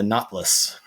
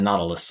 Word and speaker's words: Nautilus: what he made was called the knotless or the Nautilus I guess if you want to put the extra syllable in there uh the Nautilus looked